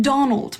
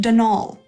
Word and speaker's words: Donal: the caretaker denal Delaney not Donald mind you there's no D at the end so it's pronounced denol that's the way you're